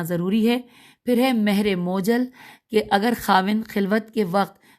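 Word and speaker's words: مؤجل: معجل۔ پھر دوسرا ساتھ ہی لکھا ہے مہر موجل، میم واو جیم لام۔ پھر ہے مہر مطلق،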